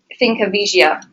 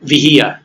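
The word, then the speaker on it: Finca Vigía: uh Ernest Hemingway's home thinka thinka viia is that how you pronounce it viia viia thank you very much there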